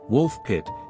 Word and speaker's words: Woolpit: the mid 12th century wol pit pronounced wolf pit in Old English is an ancient Village